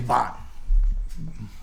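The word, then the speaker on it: Bähn: Oh, my name's Bon.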